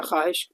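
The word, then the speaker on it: خواہش: यानी इसमें जो है ना ये इसमें अलिफ जो साइलेंट रहेगा, ख्वाहिश, इसको इस तरह से पढ़ेंगे हम लोग।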